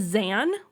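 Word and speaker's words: Xan: His name is Zan, spelled with an X, and he's the Warden of England, which basically means that he's the dictator, as I've mentioned.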